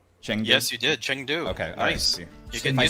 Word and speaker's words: Chengdu: happen china did i say that right brad shendu yes you did chengdu okay i see i said it wrong brad